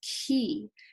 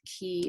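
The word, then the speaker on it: cay: key so it looks like clay but it's pronounced key a doc and area at the edge of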